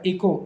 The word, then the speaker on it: echo: इको, इको में एच गायब है यहाँ पे, एच ही ECHO इको, इसमें एच साइलेंट होता है।